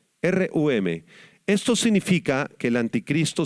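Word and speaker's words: רוּם: o ensoberbecer es la palabra hebrea rum con acento en la u rum rum esto significa que El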